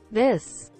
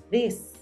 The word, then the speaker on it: this: This. This. This. No es tanto el viento, sino es más la fuerza de la D. Pero pilas, tienes que ubicar los dientes y la lengua de forma adecuada.